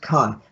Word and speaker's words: chi: an s x but it is in fact pronounced chi for christos the r the p